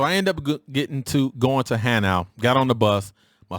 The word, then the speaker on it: Hanau: The 3 years that you're going to be here, it is pronounced HANAU. It is not pronounced HANUA."